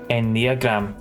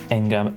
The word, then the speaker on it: Enneagram: The way Sigma talks, it's a Enneagram, not Eng. I thought it was just pronounced Engram.